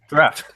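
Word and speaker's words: draught: We had 7 at one time, and How do you pronounce this word, AJ? Draft.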